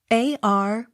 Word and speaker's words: Arbuthnot: n y pronounced abergenie av not sounded spelt a-r-b-u-t-h-n-o-t pronounced arbuthnot spelt e a-r-u-n-d-e-l pronounced arundel b e